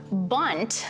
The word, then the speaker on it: Bundt: Bundt, which is spelled B-U-N-D-T, is a registered trademark,